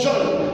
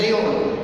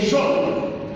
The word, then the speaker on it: geôle: Alors geôle, ça s'écrit geôle, mais ça se prononce geôle. Malheureusement, de nombreux agents de police martyrisent ce terme et le prononcent géole. C'est geôle.